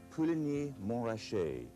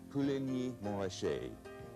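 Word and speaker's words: Puligny-Montrachet: Another white Burgundy, Pouligny-Montrachet, Pouligny-Montrachet.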